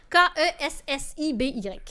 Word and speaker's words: Kessiby: C'est écrit comme ça se prononce? Kessiby. Voilà.